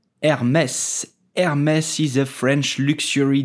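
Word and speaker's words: Hermès: do you pronounce Hermes you will simply say Hermes the H in French is totally silent so do not pronounce it do not say Hermes but just Hermes did you know that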